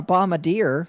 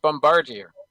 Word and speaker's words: Bombardier: It's pronounced bombardier. Well, bombardier pronunciation. Bombardier. Okay, so all the remaining models are bomb. Bombardier. Bombardier. Yeah, whatever. I can't say that word. Okay, sue me. It's a French pronunciation, Brandon.